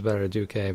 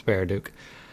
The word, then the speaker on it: Baraduke: I mispronounce it as Baraduke, but it's Baraduke.